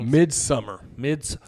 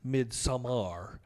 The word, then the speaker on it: Midsommar: But Yeah, there's like a uncut version or Midsummer, No, you said it wrong. It's Midsommar.